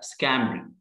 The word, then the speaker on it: scampering: طبعا شورت اي سكا، وهنا البي مش هتتك، مش هقول سكامبرينج، لا سكامبرينج كانها مش موجوده، والجي طبعا ما بتكاش عليها في الامريكان اكسس، سكامبرينج.